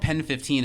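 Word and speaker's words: PEN15: anything about okay well it's called pen 15 is like how you say it but yes of course it's supposed to look like penis and it's two comedians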